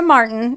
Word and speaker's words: Marten: Maria Marten, and this is spelled Marten, and then it evolved to Ti later, but it's Ten, was born on July